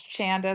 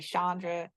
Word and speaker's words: Chanda: A lot of people didn't know how to pronounce Chanda. They'll say Chandra, and they'll say Chandra.